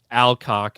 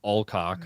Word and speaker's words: Alcock: I missed that one I do believe that's the correct pronunciation Millie Alcock Al other than Alcock instead of alock alock yeah I don't